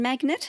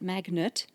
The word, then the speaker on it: magnate: rose as a construction magnate, I guess, and business magnate. Magnate, not magnet.